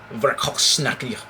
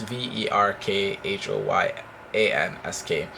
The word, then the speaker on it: Verkhoyansk: The Russian town of Verkhovsky, I did not spell it right, but it's Verkhoyansk, became the first place above the Arctic Circle to experience temperatures over 100 degrees Fahrenheit.